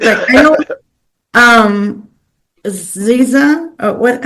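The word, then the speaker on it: SZA: Um, Ziza or what? How do you say it? Scissor scissor.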